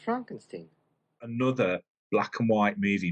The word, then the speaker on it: Frankenstein: Brooks with Young Frankenstein it's pronounced Frankenstein another black and white